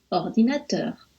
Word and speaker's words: ordinateur: On accentue un peu teur, ordinateur.